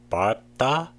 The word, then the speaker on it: 밟다: In the case of 밟다, the back 비읍 sound is pronounced unlike other situations such as 밟다, 밟고.